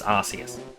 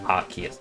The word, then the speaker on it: Arceus: Raikou can go to every single game with the exception of Legends Arceus, or Arceus, depending on how you want to pronounce it.